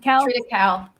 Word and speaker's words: triticale: Triticale.